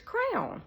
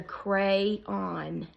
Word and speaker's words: crayon: on my own but he was like No it's it's Crown Crown Crown he was saying crown and I was like it's a crayon c r a y o n crayon crayon well I had forgotten